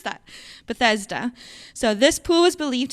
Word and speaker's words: Bethesda: of that because I wasn't sure how to pronounce that. Bethesda.